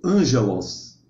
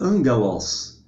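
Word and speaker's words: ἄγγελος: temos angelos Ok gente não pronuncie se você estiver referindo ao termo original grego Ângelos não existe essa pronúncia em grego Tá certo em grego a pronúncia é angelos tem dois Gamas junto o primeiro Gama quando tá junto de um Gama de um capa né ou de um i aí se pronuncia n ou ni né então angelos da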